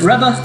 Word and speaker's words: Revere: I'll say Revere, but pronounce it Reba.